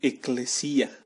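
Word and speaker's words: ἐκκλησία: de la palabra griega en griego la palabra iglesia se pronuncia ekklesia lo que significa asamblea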